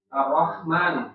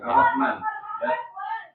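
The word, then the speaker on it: الرحمن: ha ha ha J harus bisa dibedakan Bapak ya karena sudah belajar ha dan ha sudah harus beda jangan ha sama ha sama bacanya Ya Arrahman artinya itu H bukan H bukan arahman arahman arahim artinya haac arahman arahim ya H dengan H harus beda Ya baik Kalau tidak lanjut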